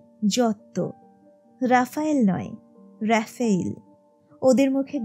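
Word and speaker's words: Giotto: আসল উচ্চারণ নাকি তিশান ওরা যাকে জিওত বলে তার নামটা উচ্চারিত হবে যত রাফায়েল নয় রাফায়েল ওদের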